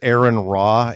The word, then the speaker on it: Aron Ra: Phonetically, it's Aaron Raw, A-R-O-N space R-A, which is fine.